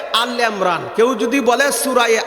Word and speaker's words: আলি ইমরান: যেমন সূরায়ে আল ইমরান, কেউ যদি বলে সূরায়ে আল ইমরান, এটা আল ইমরান বলা ভুল হবে।